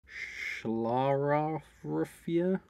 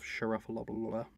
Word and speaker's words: Schlaraffia: The Bohemians possibly chose their emblem based on a secret society called Schlaraffia? That's the pronunciation. Can you pronounce that? So it's S-C-H-L-A-R-A-F-F-I-A. Schlaraffia?